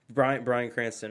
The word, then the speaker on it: Bryan Cranston: Bryan Cranston, right?